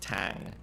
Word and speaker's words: t4n6: word so that's pronounced tang and it's kind of like it's it's spelled kind of in a kind of hacker style right so right um